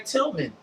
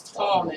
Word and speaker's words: Tallman: calling her Tillman, and she had to say my name is Tallman.